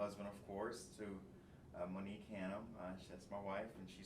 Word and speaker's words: Hannam: enjoy today's show today with me Dr Hanam did I pronounce that correctly yes sir perfect awesome awesome